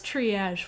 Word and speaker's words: triage: So it is triage. Wow, I've been saying it wrong my entire life.